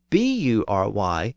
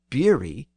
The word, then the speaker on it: bury: The modern pronunciation with the A sound is the Kentish pronunciation, and the spelling with the letter U is the spelling from the south and west of England.